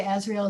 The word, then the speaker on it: Azrael: and that was archangel azrael and her name is spelled a-z-r-a-e-l and some people refer to ezreal as the angel of death now she doesn't